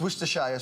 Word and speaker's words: Worcestershire: It's Worcestershire sauce. Worcestershire.